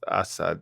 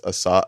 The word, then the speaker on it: Assad: I So yeah, again um it's for the it's like lazy and and and long in the in English pronunciation. So it's Assad Assad, right? Right. And then in Arabic it's sharper, more aggressive, more barbarian like Yeah.